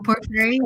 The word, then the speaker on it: Porphyry: Porphyry, thank you.